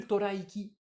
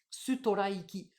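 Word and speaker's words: ストライキ: Sutoraiki. Il faut bien comprendre, hein, il faut le prononcer, c'est très important. Sutoraiki, Storaiki, Storaiki.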